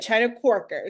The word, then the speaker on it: Chyna Quarker: have you here welcome and please correct my pronunciation of your name thank you so much no you said it right China quker so that's totally fine china quker all right